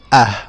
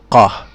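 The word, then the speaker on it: ق: In Egypt, in the Cairo accent, with the Cairo accent, or most of the accents in Egypt, we would say Ah instead of Qah for the Qaf.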